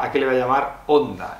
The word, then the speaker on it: Honda: palabras transcritas del japonés, la H es muda como en español, porque Hiroshima tiene una H al principio y no se pronuncia.